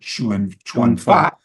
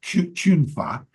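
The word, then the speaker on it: 拳法: It's the pronunciation of the Chinese word Chuan Fa. Unless you're Cantonese, then it's Chun Fa.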